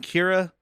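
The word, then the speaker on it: Qi'ra: picks up Amelia Clark playing Kira yeah which is spelled the most annoying annoying way with a q q i apostrophe r a what is she a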